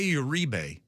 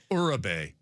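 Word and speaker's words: Uribe: Well, I there was a guy named Jose Urebe and we went what? A Urebe. That's what it was. That's how it's spelled. So that's what we went with. And he did he played for like 12 years and then in his 12th year he's like, "I would like you to finally pronounce my name the right way."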